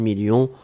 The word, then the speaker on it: millions: à la fin 2 millions on ne prononce pas le s mais il est là ensuite signature mais ici